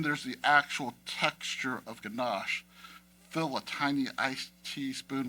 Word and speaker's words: ganache: say the word gash it is mandatory to stretch out the sh sound at the end of the word the phonetic pronunciation of ganash sounds like Niagara Falls and then there's the